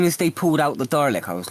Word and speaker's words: Dalek: I know, more Daleks! It will always please me that you pronounce Daleks with an R. Daleks. I like if I think about it, I'll pronounce it properly, Dalek.